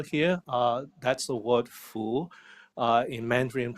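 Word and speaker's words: 福: in Golden color here uh that's a word full uh in mandaran pronunciation uh which I I think the the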